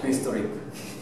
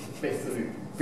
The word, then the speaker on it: vistlip: 発音はビストリップ。ビストリップ。